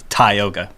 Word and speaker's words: Tioga: is a word it's the ank the anglicized pronunciation is is more phonetic as Tioga but we say to yoga because I I read a book from like